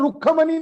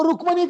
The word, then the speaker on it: रुक्खमणि: रुक्खमणि ये पाली भाषा का शब्द है, वो आज वर्तमान में रुक्मणि ऐसा हो गया, यानी पाली ही है मगर उसका प्रोनाउंसिएशन रुक्खमणि निकलेगा, मगर वो रुक्मणि कहा जाता है।